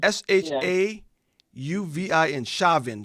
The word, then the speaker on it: Chauvin: the picture here shaven how do you pronounce his name chavin s-h-a-u-v-i-n-shavin shavin's verdict he's being taken into